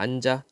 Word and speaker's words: 앉아: 앉아있던 현지가 앉아. 뒤에 거를 그냥 뒤로 넘겨요.